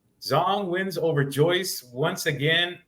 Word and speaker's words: Zhang: a fluke Big Bang zong hey it kind of sucks you don't pronounce his name Zang right big bang Zang that has a ring to it man but it's big bang Zong and he stopped the